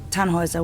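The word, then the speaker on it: Tannhauser: why what's your name tanhauser we'd pronounce it taner with an um German roots yes my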